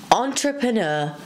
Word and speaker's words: entrepreneur: words let's get started the first word is entrepreneur say it with me entrepreneur entrepreneur for example